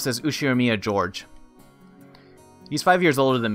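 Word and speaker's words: Ushiromiya George: is one of my cousins his name is pronounced says who share Mia Jorge these five years older than me so he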